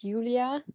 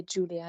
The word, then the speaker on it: Julia: Well, in German it's Julia, but you can also say Julia in English.